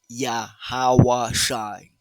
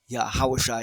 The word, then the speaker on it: Yahawashi: forth other pronunciations and other languages modern or ancient but not the correct pronunciation not the correct language not the correct ancient tongue paleo Hebrew onead so it is yahawashi yahawashi he is salvation he